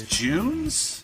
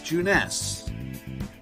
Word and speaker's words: Junes: uh you have to it's spelled exactly like June but because it's Japan you take that e and it makes an a sound so it's juness dude